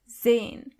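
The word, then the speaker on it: sein: As you can see, the letter S is not pronounced as S, but more like Z. So, you say Zane.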